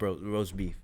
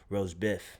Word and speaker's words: Rozebiff: but it's not spelled rast beef but it's pronounced Rose beef right if you if you look at it now if you want to really get technical on how you pronounce it then is Rose Biff right how'd you guys come up with the